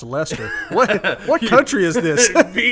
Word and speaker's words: Leicester: Leicester City yeah no it's not like Chester okay I said it a million times and got roasted so that's how I pronounce that Leicester how is that pronounced Lester what what country is